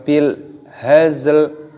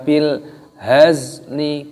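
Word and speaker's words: بالهزل: Kita baca wa ma huwa bil hazl. Tidak boleh kalau berhenti dibaca wa ma huwa bil hazli, bukan seperti itu.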